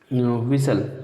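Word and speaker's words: whistle: दोस्तों इसमें साइलेंट की बात करें तो एच और टी साइलेंट है, क्योंकि ग्रामर का रूल है डब्ल्यू एस से शुरू होने वाले शब्दों में एच साइलेंट रहता है।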